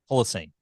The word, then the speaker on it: Holocene: Well, of course, man, the new Ocean album, Holocene, is that how you pronounce Holocene? Holocene.